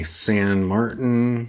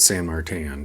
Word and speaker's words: San Martin: up we have my San Martin San Martin I've always pronounced it San marttin but however you pronounce it this is an explore